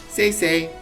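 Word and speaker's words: Sei: Call me Sai. Alright, Sai, I am Dorothy. Say Sai. Yes, yes. Sai, say. Yes, yes. Say, say. Oh, it's supposed to be pronounced say.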